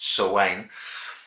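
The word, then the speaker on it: Samhain: Running through it like a seam is the poster boy for Trick or Treat, Sam, short for Sam Hain, pronounced Sawane, and he is sort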